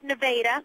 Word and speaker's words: Nevada: And yes, it is pronounced Nevada.